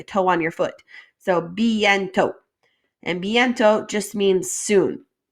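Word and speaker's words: bientôt: on your foot so bientot and bientot just means soon remember in french we don't usually pronounce that last letter either so we have bientot not bientot all right prashan you've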